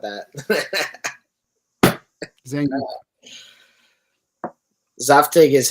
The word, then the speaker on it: Zangief: Zaftig? No, it's not that. Zangief.